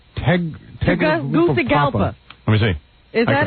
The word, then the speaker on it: Tegucigalpa: You couldn't even pronounce this on your best day, Howard. What? What? It's Tegucigalpa. Let me see. Is that it? Tegucigalpa?